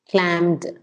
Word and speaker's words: clamped: You have to pronounce the D, yeah. Clamped. And the P, clamped. Clamped. You got it. Yeah, it's the P has to be heard.